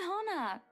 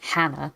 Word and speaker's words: Hana: to move in I I don't think I've ever heard it pronounced that way I've always seen it as I always thought was Hannah not Hana my brain completely stops